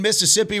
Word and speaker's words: Mississippi: and when you say Mississippi, you got to cut out one of the syllables, so it's Mississippi.